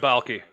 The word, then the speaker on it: Baalke: The statement that Urban Meyer and the general manager, Trent Baalke, I don't even know if I pronounced that right. Yeah, Trent Baalke.